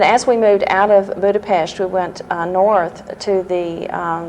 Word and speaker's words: Budapest: in Budapest and and I pronounced it like the Hungarians do Budapest not Budapest I learned that very